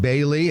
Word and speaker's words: Bailly: reach out to Eide Bailly. It's spelled E-I-D-E, and Bailey is spelled not the way it sounds.